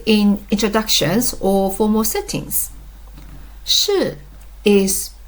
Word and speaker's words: 是: Sh. A common mistake is pronouncing it like the English word she. But that's not right.